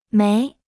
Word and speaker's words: 没: 有，有，没，没，有没有？有没有？有没有？有没有？没， Se pronuncia con el segundo tono.